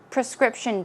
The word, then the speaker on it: prescription: Prescription medicine, prescription drug. It's often used together. Prescription pronunciation is prescription. Stress goes there.